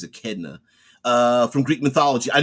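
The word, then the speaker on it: Echidna: from uh Greek mythology is it a kedna um I think it's I don't think it's aedna I think it's a kedna uh from Greek mythology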